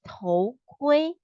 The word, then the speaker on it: 头: Then we go to 头 T-O-H 头.